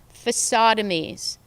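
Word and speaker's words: facadectomies: cuts to urban version facade amis rhyming with lobotomies the use of facades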